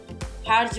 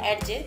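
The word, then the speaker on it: Hergé: এখন টিনটিন যেমন পৃথিবীর বিখ্যাত একটা কমিক্স, এটার অসাধারণ ড্রয়িং হার্জ নামক একজন আর্টিস্টের, হার্জ বা অ্যাডজে দুইটা মানে উচ্চারণ অনুযায়ী, এখানে অসাধারণ স্টোরি টেলিং, অসাধারণ ড্রয়িং, খুবই বিখ্যাত একটা কমিক্স।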